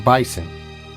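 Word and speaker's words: M. Bison: is balrog in japan his name is m bison which rhymes with m tyson get it i was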